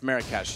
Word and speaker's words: Marrakesh: I pronounced it wrong. It's Marrakesh.